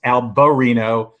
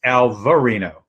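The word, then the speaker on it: Albariño: first of all apparently in spain it's alberino and in portugal i notice it's as eric pointed out it's alvarino with a v instead of a b this is called nordica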